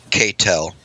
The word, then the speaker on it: K-Tel: K-Tel. Can't tell. You could write that one down if you want to throw it away. Okay. I'm really so sorry. the K is silent and it's just tell.